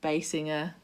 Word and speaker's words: Basinger: gotham street um so does anyone really know how to pronounce the surname basinger bassinear well you said it right the first okay last time i